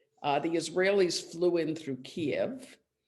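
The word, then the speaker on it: Kyiv: israelis flew in through kiev or kiev i guess they say we all now know a different pronunciation of that city based on um the hearings the trump hearings keep i think and i remember frank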